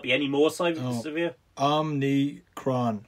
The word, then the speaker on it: Omicron: any more slightly severe omni kron c-r-o-n just think of quran at the end somebody should do an